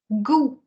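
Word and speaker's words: goût: and there's the word goo the t is silent here goo oh use the sound of O Okay so this means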